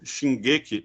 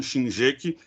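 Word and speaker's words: 進撃: Que pronuncia assim, né? A obra original Shingeki e não Shinjeki e nem Shinjeki, né? Em japonês o GE pronuncia com G, como se fosse com E, o G-U-E do português, né?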